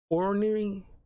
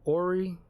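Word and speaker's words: orrery: uh uh ruins with his orary I think that's how you pronounce it ory o r r e r y which is pretty much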